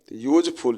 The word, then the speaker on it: useful: यूजफुल, यूजफुल में यू दिया गया है, USEFUL, यू जो है वॉवेल है, लेकिन इसका प्रोनाउंसिएशन कंसोनेंट्स की तरह होता है।